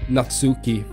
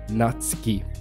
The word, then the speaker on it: Natsuki: what not scape not Natsuki that I see so many youtubers say in Japanese at least you will pronounce her name like not ski it is pretty dark